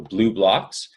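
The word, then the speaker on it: BluBlox: blue blocks with and it's spelled BL u BL o X so blue blocks and they make good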